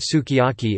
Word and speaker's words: sukiyaki: For example, the Japanese word sukiyaki is pronounced su kajaki and may sound like skijaki to an English speaker, but the lips can be seen to compress for the u.